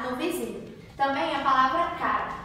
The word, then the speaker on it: cara: Também a palavra cara. A palavra cara também tem um pronunciamento mais fechado por não possuir nenhum acento.